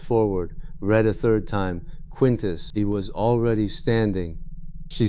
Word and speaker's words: Quintus: Roman, 2 syllables, the emphasis on the first, the vowels slightly flattened by an accent from 2,000 years after his death.